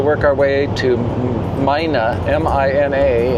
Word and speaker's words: Mina: And then the plan is to work our way to Mina, M I N A and I understand that the Nevadans pronounce it Mina rather than Mina.